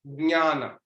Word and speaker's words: ज्ञान: तो इसकी वजह से हम लोग इसको बोलते हैं ज्ञान, ज्ञान, नेसल, क्योंकि उसमें नेसल साउंड इंक्लूडेड है।